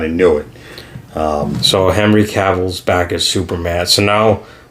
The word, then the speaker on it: Cavill: It was cool to see Henry Cavill come back. Is it Cavill or is it Cavill? I think it's Cavill.